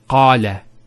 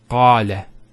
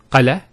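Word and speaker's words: قال: First one here is qala. Notice the elongation of the A sound. Qala. Not qala, qala.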